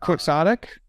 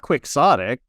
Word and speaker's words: quixotic: looked it up immediately quixotic not quixotic no exotic is I and that's legitimate by the way uh that's how you pronounce uh Don Quixote's name being turned into an adjective yeah but uh uh